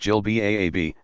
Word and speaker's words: jilbab: Some wear a flowing gown, jilbab, pronounced jilbab, that extends to the ankles.